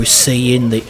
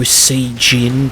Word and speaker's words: Saiyajin: It always pissed me the hell off how people on message boards wouldn't say Super Saiyan, they'd have to say Super Saiyajin, because that's the official Japanese pronunciation.